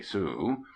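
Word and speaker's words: Sault Ste. Marie: the little town of sous a Murray pronounced abruptly soo we happened on at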